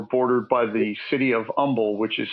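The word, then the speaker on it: Humble: by the city of Umble, which is spelled hu mle e, but we don't pronounce the h.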